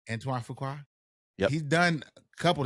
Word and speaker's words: Antoine Fuqua: Antoine Fuqua. Antoine Fuqua.